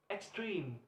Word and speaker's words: extreme: The stress is placed on the second syllable, and for adjectives, word extreme, extreme. The stress is placed on the second syllable.